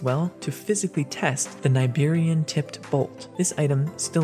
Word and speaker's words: Nibirian: The devs have confirmed this before that the proper pronunciation is Niberian, so perhaps this is